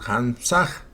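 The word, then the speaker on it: Hamsah: trabaja con el mantram Hamsag. Se pronuncia hams se escribe h a m s a h.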